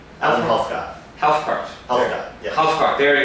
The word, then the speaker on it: Helfgott: We're sitting here at MadHive's office in New York with Adam, and I don't know how to pronounce the last name. Adam Helfgott.